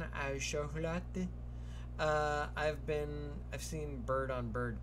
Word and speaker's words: chocolat: Pain au chocolat. I always put that extra syllable. Chocolat. Ducks are violent creatures.